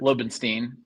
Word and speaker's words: Lobenstine: Did I pronounce your last name right? Lobenstein, but that's all Lobenstein, right.